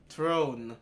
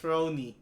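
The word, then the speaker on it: Throné: I started with uh Throne or it's actually pronounced throney so troney is a thief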